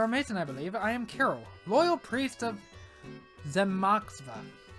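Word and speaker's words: Kiryl: Carol, probably spell it. K I R Y L. Yeah, Carol.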